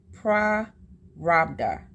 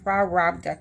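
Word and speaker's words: Prarabdha: give me a second it's spelled p r a r a b d ha a so it's prda cool prda Karma okay and that's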